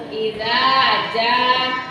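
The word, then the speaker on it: إذا جاء: Ja-nya biasa jangan za. Idza ja.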